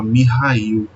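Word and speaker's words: Михаил: Michael ele vem do Russo e ele é pronunciado dessa forma mihail Ei não para contar a história do meu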